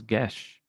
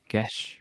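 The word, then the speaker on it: geas: I found out you pronounce that as Gesh. The Gesh? Oh, it's a Gaius. Gesh? Mm-hmm. I had to look it up because I wasn't sure. Oh. Gesh. Huh. Gesh. Comes from Irish Gaelic.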